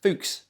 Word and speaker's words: Fuchs: yeah we're going to get the video banned foox fooks foox um is that right clive yeah yeah clothes